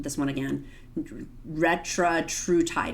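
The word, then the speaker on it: retatrutide: It's I mispronounced this one again, Retratrutide.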